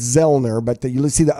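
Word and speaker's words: Zoellner: You don't pronounce the O, so it's Zellner, but you see the O, and people are always mispronouncing it.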